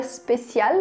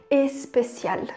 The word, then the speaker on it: spécial: leitura e vê lá a palavra spécial, a gente tem essa tendência de querer falar especial. Mas não tem nenhum E ali, em francês é assim mesmo, começa só com S, a gente fala especial, especial.